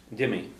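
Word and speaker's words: d'imigh: How do you say it? Vimy or Jimmy? Jimmy. Yeah, it depends on where you're going to hear it. So Jimmy would be a little bit more Western.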